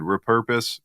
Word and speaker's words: repurpose: when I say it, it sounds weird. Repurpose. Repurpose. You say repurpose. And I've never heard anyone say that before. I've always heard repurpose. Repurpose. But I'm from the South and we put the emphasis on the first syllable.